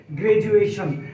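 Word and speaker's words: graduation: vowel পরেও vowel যার কারণে এখানে ডি এর উচ্চারণ ড না হয়ে বর্গেজ হয়ে গিয়েছে গ্রাজুয়েশন গ্রাজুয়েশন আমরা কিন্তু বলে থাকি এটা আমরা শুদ্ধই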